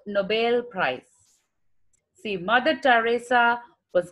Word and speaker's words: Nobel: We tell it as Nobel Prize. No, it is Nobel Prize. Nobel. It is just like BALE.